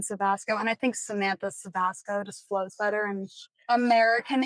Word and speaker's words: Cevasco: You pronounce your name Sebasco. Well, technically in Italian it's Seasco. It's Chavasco.